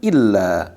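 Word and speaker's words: إلا: Terus nah beda dengan illa. Kalau illa itu illa alif lam alif. Nah la-nya ditasjid, illa ini kecuali. Ya kalau bacanya illa dengan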